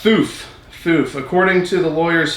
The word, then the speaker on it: Fuf: Oh, it's pronounced Foof.